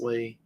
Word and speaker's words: Leigh: I think it's pronounced Lee.